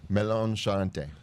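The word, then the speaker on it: Melon Charentais: How do you pronounce it again? Melon Shante.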